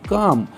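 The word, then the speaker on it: calm: এ কাম, এটা কিন্তু কাল্ম নয়, এলটার উচ্চারণ হয় না, কাম, কাম মানে শান্ত, এত শান্তি আমি আগে কখনো দেখিনি, এত কখনো অনুভবও করিনি।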